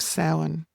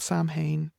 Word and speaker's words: Samhain: We have Samhain, not Samhain.